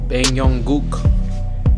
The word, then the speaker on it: 방용국: to some popular stuff Bang Yong Guk drunkenness Bang Yong Guk interesting that I pronounce it right Bang Yong Guk Bang Yong